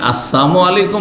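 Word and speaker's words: السلام عليكم: হয়ে যাবে সালামের লামকে সাইলেন্ট করা বুঝেন তো উচ্চারণ করলেন না আপনি তাহলে ওর মানে মরণ হয়ে গেল এজন্য আপনি আসসালামু আলাইকুম বলেন আর আসসালামু আলাইকুম বলেন সালাম আলাইকুম মানে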